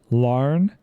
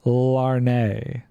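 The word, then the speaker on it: Larne: Larn. Yeah, so the E is silent. It's not Larnay.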